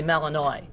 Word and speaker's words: Malinois: melon wah I would I would pronounce it with a French last name I would say Malinois it's mal Ino is